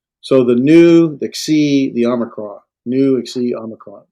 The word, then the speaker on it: Xi: It has a KS sound, like we might say in fox. You ever notice your F has an F sound at the end of it? Fox. Mm-hmm. Well, that's what the key is. Xi, fox.